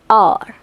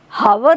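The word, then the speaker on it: hour: एच से होते हैं परंतु एच साइलेंट होता है और साउंड किसका आता है? वाउल का। देखो, ही is late an आवर, अ, हावर नहीं है, अ, साउंड किसका है?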